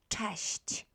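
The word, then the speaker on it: cześć: but also by and it's pronounced as tasht so um sorry for my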